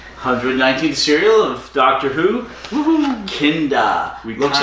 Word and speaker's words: Kinda: we discussed the 119th cereal of Doctor Who kinda looks like kinda but it's pronounced kinda and I'm trying to be talking about after